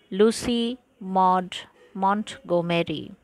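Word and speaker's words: Lucy Maud Montgomery: উচ্চারণটা ভালো করে শোনো, লুসি মড মন্টগোমেরি।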